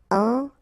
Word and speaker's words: enterré: Enterré. Okay, remember, N together, nasal, en, and then you get this double R here, and it will open the sound of the E, okay? Enterré.